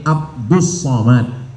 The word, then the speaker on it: Abdus Somad: nama Abdul Somad jadi Sebenarnya nama ini Abdus Somad tapi kemudian ditulis dengan Abdul Somad banyak jamaah yang katanya